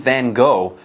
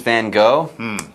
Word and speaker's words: Van Gogh: Now get this, its exterior remains basically unchanged from when Vincent Van Gogh painted it over a century ago. So, wow. And by the way, a note on pronunciation. People say Vincent Van Gogh.